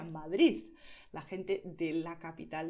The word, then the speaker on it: Madrid: Si pronuncias la D final como D, estás pronunciando bien, no hay ningún problema, es lo que te aconsejo.